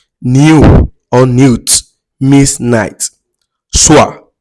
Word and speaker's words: soir: Soir, s o i r. O i in French is pronounced as wa.